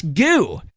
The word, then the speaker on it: Goo: Carla McClendon, Chris Goo. I watched Lolita Loca last night, and there was a bit of confusion on how to pronounce it, but I straightened them out. You know it's goo. It's goo.